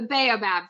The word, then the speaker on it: baobab: learned how to say the name properly the baobab tree you got it this is so beautiful i mean they're they're right out of a magical storybook tell us about the baobab tree okay so they are they are magical